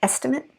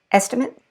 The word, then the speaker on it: estimate: so notice you hear the eight in the verb but the it in the adjective or the noun or um the adverb okay in this